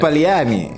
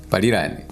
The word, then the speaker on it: Paliani: I want you to pronounce it properly. It's not Lilongwe. It's one word. Paliani. Eric Paliani. Eric Paliani. Parirani. I said Paliani.